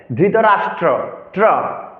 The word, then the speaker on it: ধৃতরাষ্ট্র: অধ্যায় অর্জনা বিষাদোগ ধৃতরাষ্ট্র ধৃতরাষ্ট্র রফলার উচ্চারণ করতে হবে ধৃতরাষ্ট্র বলা যাবে না ধৃতরাষ্ট্র এবার মূল শ্লোকে ধর্ম